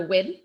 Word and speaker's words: Nguyen: I'm also inspired by Amanda Wynn, which is spelled Nguyen. So not necessarily how you would think it would be pronounced, perhaps.